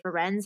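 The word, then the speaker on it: Firenze: many different like i've it's really half and half people who say friends and say frenzy so i just wanted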